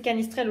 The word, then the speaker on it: canistrelli: recette des canisses trail canistrelli prononcé qu'à mistral par les corses puisque c'est une recette qui vient de corse donc c'est cali ce trail aujourd'hui moi je les